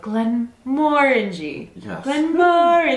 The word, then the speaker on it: Glenmorangie: it absolutely loved it we were mispronouncing the distillery the entire time so now every time we say it out loud we're like glenn morinji i have to listen to